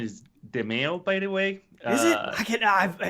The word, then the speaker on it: Demeo: The pronunciation is Demeo, by the way. Is it? It's so hard. Everybody says it's so different. Think mayo. Just think mayonnaise, Sean.